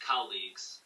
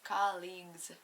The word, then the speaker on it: colleagues: this is just pronounced colleagues colleagues colleagues it looks it seems like it says colleges but College it's a